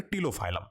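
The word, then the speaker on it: Ptilophyllum: Is your ग्लॉसोप्टेरिस and start from the P which is your टिलोफाइलम, ठीक है, P silent है वहां पे।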